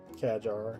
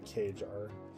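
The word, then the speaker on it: Qajar: Kajar, not Kar. Okay, so short. It's a short A then.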